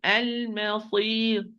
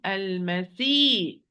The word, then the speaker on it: المصير: So, المصير صي المصير المصير المصير not المسي see return or you change the sound into sin مسي that means you lowered the back of the tongue and the epiglottis you keep it where it is.